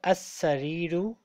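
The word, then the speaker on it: السرير: अल सरीरु अल सरीरी बेड पर, अच्छा, इसको हम पढ़ेंगे असरीरु अल सरीरी। असरीरु ठीक है, लाम इसमें अल साइलेंट है।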